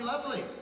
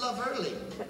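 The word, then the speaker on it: Loverly: I thought this song was called Wouldn't It Be Lovely? No, no. It's love early. Whole extra syllable in there, because she's cockney, apparently.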